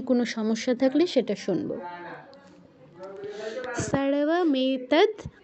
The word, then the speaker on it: सर्वमेतद्: দেখুন দয়ের নিচে কিন্তু হসন্ত আছে। হসন্ত আছে মানে দয়ের পর যে অটা আছে সেটা কিন্তু নেই। তো আমরা খেয়াল রাখবো যে দয়ের পর অ যেন আমরা উচ্চারণ না করে ফেলি।